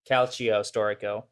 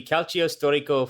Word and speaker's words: calcio storico: pronunciation and translation of calcio historico oh okay that's how you say it my bad so uh so the full name would actually be calcio storico fiorentino and the translation word